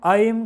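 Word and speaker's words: ঐং: ওম আইম claim সোমায় নমহ ওম আইম claim সোমায় নমহ ওম আইম claim সোমায় নামহ মন্ত্রটা দেওয়া আছে লিখে দিয়েছি ওম আইম ক্লিম ওইং না কিন্তু আইম উচ্চারণটা ভালো করে শুনবেন ওম আইম ক্লিম সোমায়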